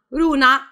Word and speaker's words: Luna: lui certo Questo ragazzo si chiama Runa kun che si scrive luna perché sapete in giapponese la l e la R sono lo stesso suono che è una via di mezzo tra tra la nostra LR lo chiameremo Luna per